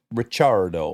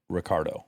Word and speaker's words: Ricciardo: Well, in Italian it would be it would be pronounced Ricardo. Yeah, there's two C's. There's two C's, but because he grew up in Australia, he pronounces it Ricardo.